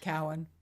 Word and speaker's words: Cohen: I'm pronouncing it right? Cowen.